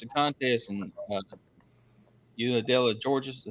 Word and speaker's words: Unadilla: So now what the Hog Drop is, though, it's a contest in Unadilla, Georgia. Did I say it right? Yep, Unadilla in downtown.